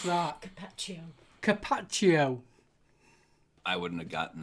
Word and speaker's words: Carpaccio: How do you pronounce that? Carpaccio.